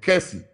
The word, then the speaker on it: Kessie: It's the Ghanaian case of Kessie versus Sharman. Kessie is spelled K-E-S-S-I-E versus Sharman.